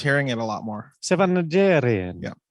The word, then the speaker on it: Najarian: Sevan Najarian. Yeah. You don't say the R, you say the R. Yeah, you roll your R's.